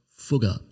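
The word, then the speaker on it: Fugger: careful about the pronunciation so i'm gonna go with the german pronunciation his name was jakob fuga yes forgot now by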